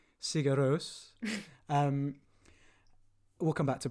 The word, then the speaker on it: Sigur Rós: Like, because the first thing I knew about Iceland was music, Björk, Sigur Rós, or here comes the first pronunciation, Sigur Rós.